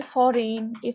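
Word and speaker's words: foreign: তারপর হচ্ছে ফরেন, FOREIN, ফরেন।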